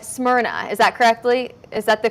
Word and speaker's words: Smyrna: It's pronounced like Smyrna.